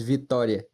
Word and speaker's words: Vitória: It's Vitória. Vitória. Vitória, like victory, Oh but yeah, like with, Victoria.